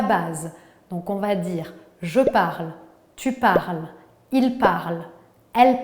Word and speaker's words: parle: verbes du premier groupe on ne prononce pas les terminaisons e es e ent jamais parti numéro 2 les